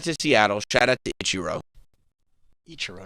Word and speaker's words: Ichiro: Ichiro.